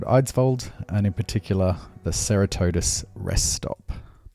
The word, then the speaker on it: Ceratodus: and in particular the Ceratodus rest stop. Now it's properly pronounced Ceratodus, but I like Ceratodus better.